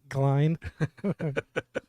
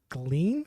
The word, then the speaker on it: Glein: Glein. No one ever gets my last name right. They're like, is it Glean?